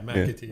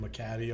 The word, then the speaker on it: Mcatee: Yeah, Mcatee. Yeah. Okay. Just MCA, so I get Mcatee all the time.